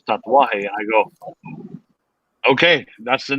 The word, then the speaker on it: Tatuaje: said hey how do you say tattoo in spanish he goes tatwa i go okay that's